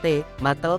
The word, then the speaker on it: tomatl: ini berakar dari kata tomatl diucapkan te matl bahasa Nahuatl yang secara harfiah berarti buah yang membengkak.